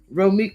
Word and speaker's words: Romeca: And this is Romeca, not Romeca, y'all, Holly's mother.